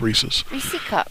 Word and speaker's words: Reese's: cups reese's yeah reese's even though she can't pronounce it it's reese's reeses okay lewiston foreigners